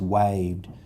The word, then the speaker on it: waved: In this case, ed is saying d. So again, the e will be silent. The vowel says its name, so the word is waved. It's a one-syllable word because it only has one vowel sound.